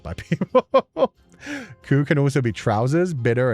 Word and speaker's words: Cú: The way I say Sensei's name is Ku.